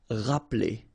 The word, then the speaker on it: rappeler: Rappeler. Okay, remember this here is not really pronounced. Rappeler.